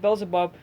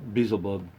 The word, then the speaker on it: Beelzebub: And so like I was looking for them, like after like I noticed them, and then like I noticed Beelzebub.